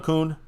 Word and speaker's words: Kuhn: I don't know how you say Kuhn. Yeah, Kuhn, that's right.